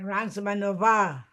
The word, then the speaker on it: Reismanová: Reismanova, Reismanova, Reism, Manova, with an accent on the A at the end, Ransmanova.